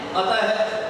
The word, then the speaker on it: अतः: और विसर्ग का उच्चारण है के रूप में होता है। जैसे किसी भी वर्ण के आगे विसर्ग लगा हुआ है तो उसको पढ़ेंगे अतः। इसको क्या पढ़ना है? अतः।